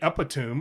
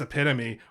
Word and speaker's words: epitome: So if you read epitome and then you say epitome or epitome, you've done nothing wrong. You're using the tools you have to sound it out. And until somebody goes, it's epitome, or somebody's like, frustrated isn't a word.